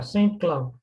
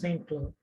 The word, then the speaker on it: Saint Cloud: Yeah, Saint Cloud. You didn't Yeah, say Saint ST, Cloud. it's Saint Cloud.